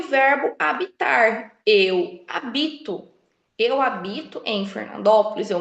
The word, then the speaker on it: habito: Segundo exemplo, hábito e habito, né? A grafia é a mesma, OK? A grafia é a mesma. O que muda novamente é a pronúncia devido ao quê? A sílaba tônica.